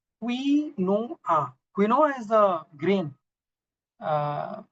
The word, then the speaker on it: quinoa: all but B is the right answer it's quinoa there is the last and I think everybody